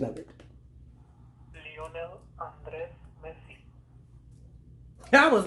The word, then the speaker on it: Lionel Andres Messi: saying his name correctly, okay, this is the pronunciation of it. Lionel Andres Messi.